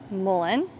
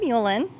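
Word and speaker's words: mullein: I am terrible about pronun pronunciating uh different plants that I grow in different um varieties but this is mullen not muen but this is really great for any type of respiratory issues.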